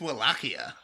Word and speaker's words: Wallachia: I pronounced Wallachia like 4 different ways, but otherwise. I think it's Wallachia. That's always what I thought.